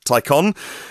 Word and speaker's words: Taycan: It's spelt Taycan, but pronounced Taycan, in case you hear it said differently or otherwise.